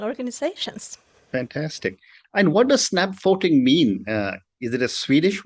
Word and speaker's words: Snabbfoting: And that is when you decided to start Snabbfoting, how do you pronounce it? The name of my company today, we are a small team. It's Snabbfoting.